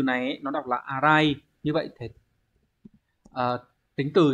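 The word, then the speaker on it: 粗い: Số 2 là chữ thô, cắt thô cũng có thể dùng được nhưng mà cái từ này ấy, nó đọc là arai, như vậy thì tính từ ghép vào sẽ phải là ara cự.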